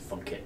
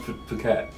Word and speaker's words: Phuket: interested in going to Funkit or anywhere, because a lot of sort of, travel comes. Hey, is it not pronounced Phuket?